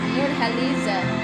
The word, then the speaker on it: Nurhaliza: And she pronounced it with an H. Nurhaliza.